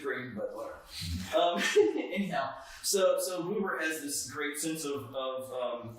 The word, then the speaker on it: Buber: It's written Buber, and I prefer pronouncing it Buber, but it's actually pronounced Buber.